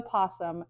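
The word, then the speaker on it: opossum: reading the posum yes it starts with an O but the O is silent and again I wanted to go with correct spellings from most of these cards so it's pronounced the posum but it's spelled with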